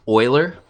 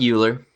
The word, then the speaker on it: Euler: not it doesn't look like it but it's pronounced Euler right almost like Oh il er hey boiler not Euler say Euler you're you're embarrassing yourself in front